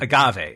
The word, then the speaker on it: Agave: a poppy includes a is it Agave inulin am I pronouncing that right AG g a v e Agave yeah Agave agave plant right Agave inulin which